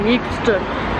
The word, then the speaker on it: Euxton: It's got a U in it, and I'm pronouncing it, okay?